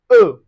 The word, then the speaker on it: eau: Those three vowels come together to give us eau. And it's pronounced eau.